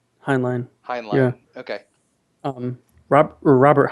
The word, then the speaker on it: Heinlein: you say his name I always thought it's henlan Heinlein yeah okay um Rob Robert Heinlein Robert did